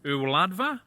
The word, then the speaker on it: Y Wladfa: Right, rydych chi'n dweud e fel hyn, y wladfa and y wladygfa Gymraeg.